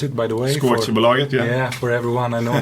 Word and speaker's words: Skoaktiebolaget: And Skoaktiebolaget, that's how you pronounce it, by the way. Skoaktiebolaget, yeah, for everyone I know.